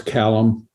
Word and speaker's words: Kalom: And Alice, and how do we pronounce Alice's last name there? Alice Kalom.